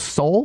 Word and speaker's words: Soule: Charles Soule, is that how you say his name?